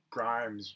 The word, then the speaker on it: Grimes: Notice that Grimes rhymes with crimes.